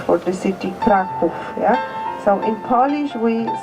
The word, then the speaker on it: Kraków: also was gave the name for the city Kraków. Yeah. So in Polish we say Krak, K-R-A-K, and if we speak in Polish Krakow, it's Kraków, K-R-A-K-O/W, Kraków. And in English it's spelled C-R-A-C-O-W, Krakow.